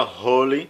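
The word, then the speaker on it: holy: fazendo piada a observação trata-se da palavra holly santo tem uma h inicial que o pregador não conseguia pronunciar já que o h é aspirado em inglês isso mesmo em todos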